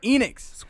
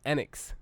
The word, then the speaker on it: Enix: We're talking about Square Enix. They Enix. brought the hotness last night when they... It's not Enix, it's Enix. Enix. Square Enix.